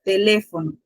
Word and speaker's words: teléfono: Teléfono lleva acento. Ustedes saben de por sí a dónde recae la mayor fuerza de voz. ¿En qué sílaba? Las divisiones de sílabas, ¿cuáles son? Ya yo se las mencioné anteriormente. Última, penúltima, antepenúltima y tras antepenúltima sílaba. Ahora les pregunto, ¿en qué sílaba recae el acento? Antepenúltima.